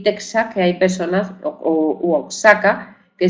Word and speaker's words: Texas: pronuncian con j bien algunos restos de estas grafía se encuentran por ejemplo en topónimos con México verdad que algunas personas dicen México y otras pronuncian la palabra México verdad aunque se escriba México porque se escribe México o o asaka y otros dicen oajaca o Texas y otros dicen Tejas o los derivados de